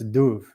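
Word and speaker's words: dubh: That BH is pronounced like a V. So that's Duv and that means black.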